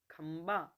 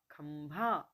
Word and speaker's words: खंभा: अधिशासी सही है कनिष्ठ नहीं कनिष्ठ आंशिक आंशिक खंबा खंभा है ना ये उच्चारण संबंधी पहले होती है और उसके बाद